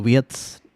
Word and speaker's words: Wirtz: It's just that I prefer Wirtz or Wirtz, if you want to pronounce in terms of German.